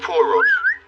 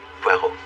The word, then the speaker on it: Poirot: Poor Rods. No, no, no. Pero. It is pronounced Pero.